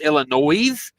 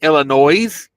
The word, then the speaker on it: Illinois: Yes, Illinois. I pronounce the S at the end, Illinois. A lot of people tell me, "Oh, you're not supposed to pronounce the Illinois."